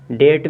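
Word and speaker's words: debt: से ठीक है ना याद रखिएगा जब भी बी के बाद टी आ जाए या बी के पहले किसी वर्ड में चाहे शुरू में हो चाहे लास्ट में हो चाहे बीच में हो अगर बी के तुरंत बाद अगर टी मिल रहा मिल जाए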